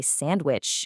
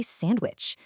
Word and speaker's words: sandwich: I mean, sure, you can say sandwich, and it's not wrong, but in natural, fast conversation, that D just vanishes. We all say sandwich.